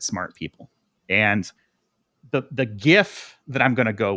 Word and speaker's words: GIF: people and the the GIF that I'm going to go with is and it's GIF not GIF so don't even come